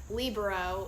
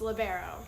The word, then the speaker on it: libero: what's it called a libero some people pronounce it differently some people say lib um libro or i don't know there's a whole bunch of crazy ones but it's libero yeah and what did